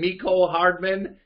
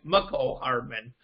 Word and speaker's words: Mecole Hardman: I got it right, by the way, but when Drew used to call Mecole Hardman Mecole Hardman because Jim Nance said it, well, Jim Nance said it wrong. It's Mecole Hardman.